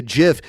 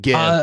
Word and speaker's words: GIF: worthless, he's not a GIF, he's a GIF. To me, delicious peanut butter is way more valuable than an animated image. I don't know. And I refuse to pronounce GIF with the J.